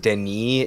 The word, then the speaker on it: Denis: The fact that it's pronounced Denis is even just like...